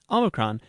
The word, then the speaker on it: Omikron: Omikron is usually sounded like O in not, but at the end of a syllable, it approximates the O in note.